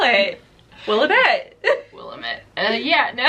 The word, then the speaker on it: Willamette: It's Willamette.